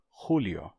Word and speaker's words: Julio: x até ficar velar aí você vai ter rulio Julio em italiano ficou Julio a pronúncia se Manteve bem arcaica só que que